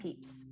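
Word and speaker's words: Pepys: diary of sam samuel peeps he was a british he created those marshmallows his last name was actually spelled p-e-p-y-s or it's pronounced peeps he was a british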